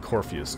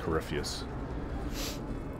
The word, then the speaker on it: Corypheus: corypheus I don't know why it looks like Corpus to me but it's actually pronounced corypheus uncle's old home it's not the first time